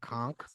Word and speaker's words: conch: one chakra conch nice conch some people say it like that do they con yeah conk udoka what you got Disc